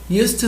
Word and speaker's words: used to: de D D tá quando eu vou pronunciar com aqui vai se unir com o to reparem que eu não di eu não dou uma pausa used to tá então a pronúncia ela vai f ficar mesclada ó US US US